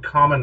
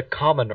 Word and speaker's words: Kamen: It's like they couldn't even pronounce Kamen right. I know it's. I mean, there's the way they would pronounce it made me think of the word COMM. He's a common rider. Yeah, like you're a garden variety every day common rider.